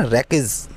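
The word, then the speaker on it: wreckage: मलबा होता है ना, रैकेज, डब्ल्यू साइलेंट होता है, रैकेज बोलते हैं उसको, रैकेज।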